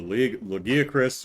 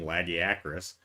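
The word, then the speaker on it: Lagiacrus: Like the Legiacris, or if you go by the game's pronunciation, Lagiacris.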